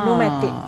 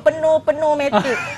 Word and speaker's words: pneumatik: Sistem pneumatik. Okey. Apa cikgu boleh sebut sekali lagi? Sistem? Pneumatik. Pneumatik. Pneumatik. Ejaan dia ada P. P-N-E-U. Kan? Oh, saya silap ni. Ramai orang sebut penuh-penuh-matik. Pneumatik.